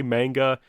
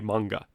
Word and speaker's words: manga: in the United States in Japanese they would say manga and I study some Japanese I'm just more comfortable saying manga whichever way you want